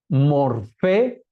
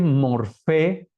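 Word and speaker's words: μορφή: de construcción y materia morfe con pH que se pronuncia F hem morfe materia forma da lugar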